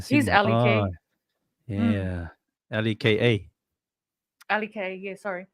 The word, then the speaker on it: Leka: spell that if it was? Just L-E-K. Like Ah, liquor on the was. Leka He's Halasima. L-E-K. Ah, yeah.